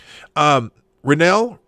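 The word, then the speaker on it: Reinoehl: Renell.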